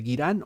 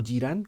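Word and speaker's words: Ghyran: Bueno, esta ciudad es una ciudad que nos explican, está ubicada en el reino de Girirán o Jiran, como queráis pronunciarlo vosotros.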